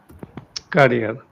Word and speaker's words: career: Now, one thing is, Subhas, that although the pronunciation is same, but this is career. career. Yeah. Carrier is something which is there on the cycle, like the cycle seat, which is there, Hmm.